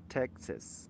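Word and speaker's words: Texas: لاندې لیکل شوي دي: کاوباو بوټس فرام ډالاس ټیکساس، سوري ټیکساس، ټیکساس تلفظ کیږي، د غوا بوټان له ډالاس څخه.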